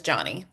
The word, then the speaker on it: Johnny: Uh and um sorry, just to start, my actual the way you pronounce my name is Johnny.